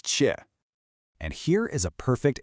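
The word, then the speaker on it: 切: First up, we have chi, and that's pronounced chi.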